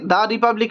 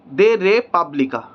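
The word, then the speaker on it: De Re Publica: Cicero the রিপাবলিক এখানে দা রিপাবলিক টাকে Italian ল্যাঙ্গুয়েজে লিখেছে দে রে দে রে পাবলিকা দে রে পাবলিকা ঠিক আছে দে রিপাবলিকা এইটা দে রে পাবলিকা এইভাবে উচ্চারণ হয় সুতরাং আমাদের যেহেতু ইংলিশ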